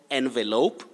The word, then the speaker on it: envelop: container envelope or envelope but the verb is tricky as i told you earlier you say to envelop you say in and then envelop invert envelope a will